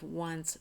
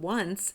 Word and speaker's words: once: So we all know that we pronounce that word once, but it's spelled with O-N-C-E. It starts with O, and we just memorize that we pronounce it once.